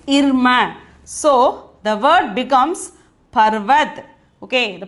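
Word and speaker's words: पर्वत: this letter is irma so the word becomes parvat okay the pronunciation is the meaning is mountain okay this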